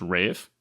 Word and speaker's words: Ralph: So the actor's name is spelled Ralph, but it's pronounced Rafe because I guess that's an old it's Welsh pronunciation, Welsh pronunciation or Welsh.